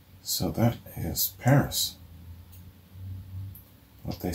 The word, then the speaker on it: PVRIS: idea for who these guys are paris paris pronounced paris pvrs pronounced paris and stylized as pvr is is an american